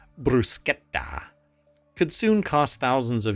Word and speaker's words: bruschetta: else going on and mispronouncing the word bruschetta as bruschetta and not bruschetta could soon cost thousands